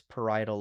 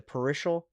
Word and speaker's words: parietal: Y'all keep getting this wrong and you can't pronounce it to save your lives. Parietal loes. Y'all are like the parishial, bro.